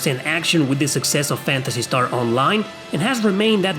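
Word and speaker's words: Phantasy Star: soon p is for fantasy star even though it's pronounced as an f it needs no introduction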